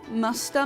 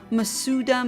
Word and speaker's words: Masuda: So, um the method that I'm using is called Musta method. I know people usually pronounce it as massuda method, but that's not really the correct Japanese pronunciation.